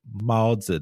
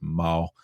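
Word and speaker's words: 猫: they learn the character for cat and it's maul and they and they say malza to mean cat but no that's not right either it's just maul so unfortunately it's not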